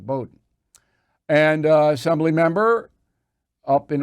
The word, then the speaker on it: Bowdoin: United States, graduated from Bronx High, went to Boydon College in Maine, Bowdoin College. I'm saying it wrong, Bowdoin.